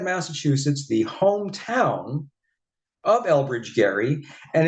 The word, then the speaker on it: Gerry: But first, we take a sidestep to Marblehead, Massachusetts, the hometown of Elbridge Gerry, and it's the only place supposedly where they still pronounce the hard G in Gerry.